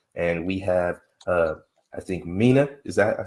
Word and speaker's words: Mina: And we have, I think, Mina. Is that how I pronounce it?